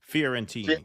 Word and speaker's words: Fiorentini: Fiorentini.